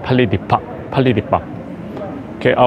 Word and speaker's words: Palais des Papes: I ask the exactly the accent pronunciation to a tour guide, and she told me that Palais de Papes.